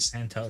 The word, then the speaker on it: Santos: No, it's toes like feet. Santos.